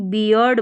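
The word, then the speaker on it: beard: अब यहाँ पर देखिए ई ए आर है, इसको ईयर पढ़ा तो ये पूरी स्पेलिंग बियर्ड बन गई, बियर्ड, क्योंकि लास्ट में डी भी है ना तो इसको ड पढ़ा, बियर्ड।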